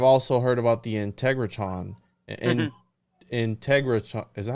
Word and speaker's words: Integratron: Integratron, is that how you say it? Integratron.